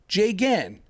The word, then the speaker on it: Jigen: Alhaji's last name looks like alphabet soup, but the breakdown when it comes to pronouncing it is pretty easy. Jigen, Alhaji Jigen.